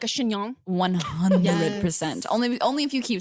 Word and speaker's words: chignon: Can I wear a wig or like a chignon? 100%. Only if you keep saying chignon.